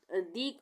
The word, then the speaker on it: the: यू के साथ शुरू होने पर, यू से दी, हम वहाँ पे दी का उच्चारण करेंगे।